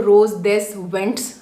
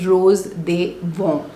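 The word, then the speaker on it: Rose des Vents: वैसे अगर देखो तो रोज दिस वेंट्स करके यह अंग्रेजी है। बट वहां पे जो इसको प्रोनाउंस करते हैं that is रोज दे वर्म।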